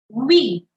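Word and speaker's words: oui: we we we yeah you have to say V but instead of starting normally like in English you make a circle first you make a o with your mouth and then say V we make a o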